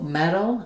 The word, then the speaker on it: metal: But the flap sound is the same in both cases. So metal and metal, we make no difference between those. We use a flap, which means we're lifting our tongue up to the T and D spot. Our voice is on and we're not building up any pressure. So not meal or meal, no T and no D, a flap instead.